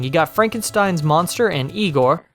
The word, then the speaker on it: Igor: You got Frankenstein's monster and Igor. No, it's pronounced Igor.